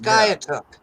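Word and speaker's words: Skiatook: skye it took oh it's pronounced skyatook yeah sorry well i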